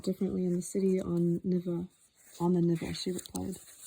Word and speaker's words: Neva: A footnote pronounced Nivea, the river that flows through the city of St.